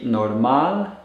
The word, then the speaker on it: normal: spanish this would be norman and a norman and when you pronounce these be sure to put the stress or intonation on the last syllable of the words so that you're stressing